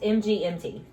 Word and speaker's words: MGMT: Oh, so it's just MGMT. Okay. It's not. Okay, it's just MGMT.